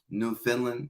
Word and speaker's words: Newfoundland: I knew that it was a Canadian territory, and the pronunciation was a little bit weird, but Newfoundland is how you say it.